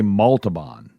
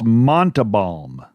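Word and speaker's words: Montalbán: See, I always say Montabon. That's not it. Montabal. It's Montabal. Montabal. I've been saying that. I've been saying the poor man's name wrong for 65 years until recently. Mont. Montabal. M O N T E. M O N T E. There's no L until the very end.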